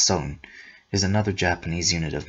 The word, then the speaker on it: sun: Footnote, like the shaku, the sun, pronounced son, is another Japanese unit of measurement.